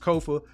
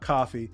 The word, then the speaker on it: Kofa: So once again, I have been your humble host, Kofa, K-O-F-A, not coffee, not Kufu, not Kofi, or any variation thereof. Kofa rhymes with sofa.